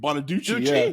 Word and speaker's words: Bonaduce: Danny Bonaduce. Is that how you pronounce that? Bonaduce. Yeah.